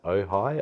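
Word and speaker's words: Ojai: to a place called I think it's pronounced ohigh OJ AI okay uh stopped there for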